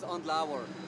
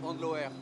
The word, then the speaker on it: Andlauer: There is so many different, but let's say the German and English one is Andlauer, and which is not too bad because if you say in French it's like Andlauer. It's a bit less sexy, let's say.